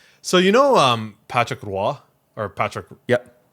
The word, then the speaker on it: Roy: always pronounce it patrick roy right and and i remember rob saying like he likes that because most people butcher the french pronunciation of his last name like when i was